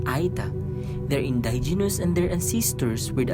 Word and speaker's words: Aeta: Aeta is pronounced as Aeta.